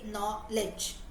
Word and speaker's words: knowledge: letters right for example if I say knowledge no K is not there at all but when we write in the spelling you have k n o w right so all of